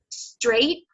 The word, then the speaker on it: straight: In America, that doesn't happen. So when we say straight, it's really just this middle part of the tongue here, just above the blade of the tongue, and it hits just in back of the alveolar ridge.